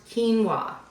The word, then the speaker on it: quinoa: Um, but it's pronounced quinoa.